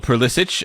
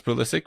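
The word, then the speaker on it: Pulisic: for Christian Pulysic because Pulissic as I think he's embraced the more European pronunciation of his name after insisting for a long time he was Pulysic which was very confusing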